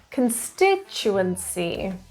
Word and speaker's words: constituency: is on the pre constituency the stress is on the second syllable can stick and lastly